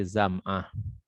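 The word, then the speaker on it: زمعة: Bi fathiz zai, dibaca dengan fathah zai, berarti bacanya za gitu. Wal mim, dan mim berarti zama. Wa ain muhmalah, dan ain tanpa titik, ya. Ain tanpa titik berarti bukan ghen kalau begitu maksudnya.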